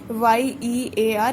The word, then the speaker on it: year: तो जब ईयर की बात होती है तो as we know that Y is a consonant, but YEAR it is giving us the sound of E.